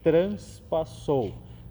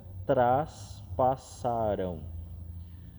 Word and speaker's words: traspassaram: Então cuidado, a gente costuma dizer transpassou, mas o transpassou biblicamente tem um outro significado. Então aqui cuidemos com essa pronúncia, traspassaram. Novamente, um verbo aqui no